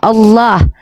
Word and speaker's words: Allah: Bukan ala itu, Kak. Iya. Coba baca dulu bacaannya tuh gitu. Kalau A L-nya 2 itu gak bisa dibaca Allah. L2 itu ada pantulan L-nya karena L-nya 2, makanya bacanya Allah.